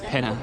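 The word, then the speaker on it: Pena: And oh, I forgot to tell you there is no tilda. Well, maybe there is a tild, but it's pronounced penna pa palace.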